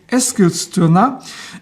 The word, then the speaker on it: Eskilstuna: a Swedish friend and I'm trying to get as close to the Swedish pronunciation as I can. First, a little geographical orientation. Here is a map of Sweden. EKA is located in Eskilstuna, a city west of the capital Stockholm.